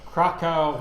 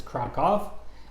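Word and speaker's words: Kraków: a wonderful City it it is we've been pronouncing Krakow wrong our whole lives let's crack off and we've been pronouncing Warsaw I mean the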